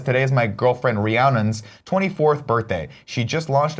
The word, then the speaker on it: Rhiannon: Rhiannon? Yeah. Apparently, like, everybody always says it wrong or something. I don't know how, I though. feel like it's a Fleetwood Mac song.